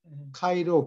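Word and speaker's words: ΧΡ: 그래서 크리스찬 심볼이 이 그리스어 글자로 카이 카이는 X를 그리스 사람들이 카이라고 그러죠. 카이, 그 다음에 R. R이 아니라 P자를 쓰고 로라고 읽어요. 그러니까 CH가 X고 그 다음에 P자는 R이라고 발음해요. 로라고 읽어요. 카이로 그게 기독교인의 심벌이었어요.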